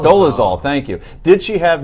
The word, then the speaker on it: Dolezal: On Friday, NAACP officials stood by Miss, how do you pronounce it again? Dolezal. Dolezal, thank you.